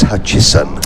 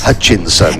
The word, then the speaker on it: Hutchison: Yes, and of course, Phil Kinch has already reminded me that it's Hutchison, not Hutchinson.